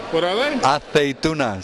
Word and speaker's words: aceitunas: The olives, aceitunas. What are they? Aceitunas. Say that to them. Aceitunas. And that's how it's pronounced in Spanish.